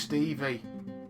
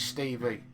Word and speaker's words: СТИВИ: Evan, it's just Stevie. in Russian, so you can. It's Stevie. We English people will call it Stevie, but it's written in Russian.